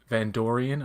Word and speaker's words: Vandorian: And that's where we see the Vandorian, I believe it's called, and that rhymes with Andorian, which is funny.